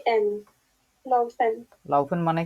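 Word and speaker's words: laufen: যেটা দেখতে পাচ্ছি লাউফেন মানে হচ্ছে দৌড়ানো কে উচ্চারণ করতেছেন এটা কানে মাপার চেষ্টা করে দেখেন তো এল আউ এফ এ এন লাউফেন লাউফেন মানে কি দৌড়ানো দৌড়ানো কেন দৌড়ানো লাউফেন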